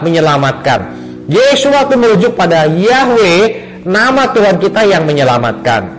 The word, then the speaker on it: Yahweh: Jadi teman-teman, mengenai Yod He Waw He dibacanya Yahweh, itu tentunya karena kakak kita atau orang-orang Ibrani, orang-orang Yahudi tahu gimana cara bacanya.